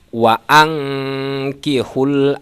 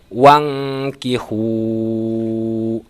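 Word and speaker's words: وأنكحوا: Maka dalam surat An-Nur ini cara membacanya wa'angkihul ayama minkum. Tidak boleh dibaca wangkihu, harus dibaca wa'angkihu.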